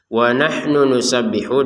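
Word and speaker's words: نحن نسبح: Wahnu nusabbihu. Di sini ada dua nun yang sama-sama domah. Jadi langsung saja wahnu nusab. Nah, jadi hati-hati jangan sampai satu nun. Tetap harus terbacanya dua dua nun.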